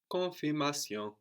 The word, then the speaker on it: confirmation: So both ends here are half silent. Let's say no. Confirmation. So those ends on the N on the end and also the N on the end of that syllable, no? Con is not really pronounced.